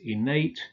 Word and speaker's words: innate: The adjectives innate, sedate, ornate are stressed on the final syllable.